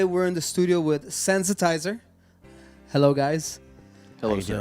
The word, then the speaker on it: Sensitiser: our studio today we're in the studio with sensitizer hello guys hello Jim it's a pleasure to